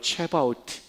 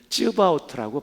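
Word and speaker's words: צבאות: 뜻이에요 그래서 만군 만군 이게 히브리 말로 체바오트 또는 쯔바우트라고 발음을 합니다 첫 번째 뜻은 이건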